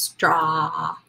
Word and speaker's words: straw: our spelling pattern kW straw says ah like octopus short Oh aw pattern please be careful don't make a W sound it's just straw you end the letter or the word with an open mouth trough says ah like